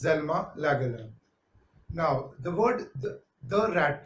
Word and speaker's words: Selma Lagerlöf: Now, Selma Lagerlöf, generally pronounced as Zelma Lagerlöf.